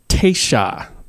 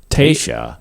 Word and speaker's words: Taysha: The origin of Texas's name is from the word Taisha. Taisha. Is that Latin? No. It's Caddo, from the Caddo Indian tribe. Oh, I didn't know that. Yeah, and it's spelled Taysha.